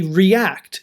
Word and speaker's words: react: So for example, the EA in reach, now we say reach and then we say react. Look at the EA in both. Why do we pronounce these differently?